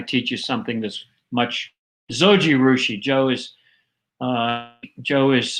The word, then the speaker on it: Zojirushi: digress but i teach you something this much zojirushi joe is uh joe has helped me out and i think that's pretty close to how it's spelled um thanks joe um sojurushi and in the famous brand of if you